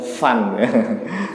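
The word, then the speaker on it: فان: harus pilih pan, partai pan katanya, karena ada di Quran katanya. Kullu man 'alaiha pan ya. Ini orang Betawi apa orang Sunda yang nggak bisa ngomong fan ya, pan. Salah ya. Fan bacanya.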